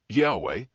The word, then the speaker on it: Yahweh: of the name resembling yehovah theories of pronunciation the most widely accepted scholarly theory is that the original pronunciation was closer to Yahweh based on comparative linguistic